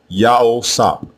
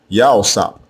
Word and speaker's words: Joseph: The name we commonly mispronounce as Joseph or Yosef is also spelled two different ways in ancient Hebrew. The first way is with the three letters Yah, Ha, and Wah as the prefix. The second way is with the two letters Yah and Wah as the prefix. Again, both versions are pronounced the same way, Yahosap, Yahosap, and it means Yahweh added.